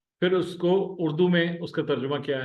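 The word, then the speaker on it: ماءُ: उ this is मा माओ नहीं बोलेंगे खोया हो जाएगा माओ खाई वो हलवे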